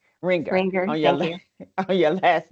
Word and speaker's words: Renger: I pronounced it. I was practicing this morning. Yes, it's Ringer Ringer on your on your last name.